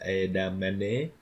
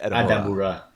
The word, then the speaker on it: Edamura: our main Japanese characters, Adam Mame was conned by Lauren like the whole way through. No, it's not edamame. That's how Laurent mispronounces his name. All His right, name is Edamura.